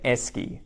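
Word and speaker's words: Esky: so something e and it rhymes with desk you got it you got it and esy and it's spelled e y esy I'm not sure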